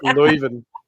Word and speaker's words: Leuven: Oh, It's Leuven.